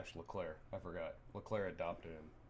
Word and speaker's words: Leclerc: Where it was finally, after years of mistakes and mishaps, Charles Leclerc, that was my French pronunciation. It's not Leclerc.